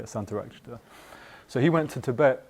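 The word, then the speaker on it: Śāntarakṣita: It's not Sangharakshita. Yeah, Santarakshita.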